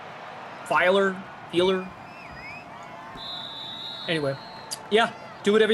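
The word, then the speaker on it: Feiler: protect the quarterback right matt who is it feeler am i pronouncing it right i don't know i'm asking you f e i l e r matt feeler hmm pretty sure that's right i could be wrong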